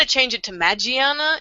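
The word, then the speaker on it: Magearna: let's discuss let's discuss magiana or mag magana magana is announced in English M actually yeah it's um it's pretty much going to be pronounced the same way in both English and Japanese so magiana has been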